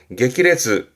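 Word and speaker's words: 激烈: 강렬한 발음은 쿄레츠, 쿄레츠. 그리고 앞에 글자가 맹자입니다. 아주 맹렬하게 말이죠. 모레츠, 모레츠. 격자입니다. 격렬하게 게키레츠, 게키레츠.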